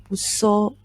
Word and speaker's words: 物騒: Okay, so this kanji is pronounced as busso.